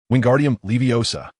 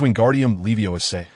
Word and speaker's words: Wingardium Leviosa: You pronounced it wrong, Hermione said bluntly, her spirits evidently lifted after receiving Flitwick's praise. It's Wingardium Leviosa. The gar should be elongated and pronounced clearly.